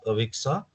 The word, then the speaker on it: AXA: uh given by us AXA uh it it rhymes with Alexa but AXA has something